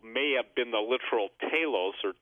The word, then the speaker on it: Talos: 100 feet tall, may have been the literal Talos, or T-A-L-O-S. Some people pronounce it Talos.